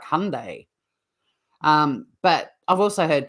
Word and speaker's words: Hyundai: did they say again you go all day every day Hyundai they told us that Hyundai so I'm not saying I'm the authority on the pronunciation I just think that's interesting because yeah I've heard it I've heard people in America sort of calling it like Hyundai um but I've also